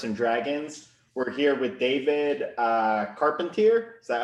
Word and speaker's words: Carpentier: We're here with David Carpentier. Is that how you pronounce it?